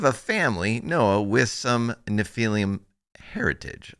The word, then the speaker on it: Nephilim: Nephilim, yes.